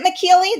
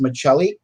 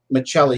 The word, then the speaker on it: Miceli: correctly it's actually pronounced maceli the h is silent um it's actually written as miceli pronounced macelli because the ci actually represents uh the sound of a ch so it's miceli okay you know what